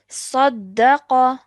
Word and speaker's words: صدق: Saddaqa. صدق. Excellent. Well done. And how would you pronounce this?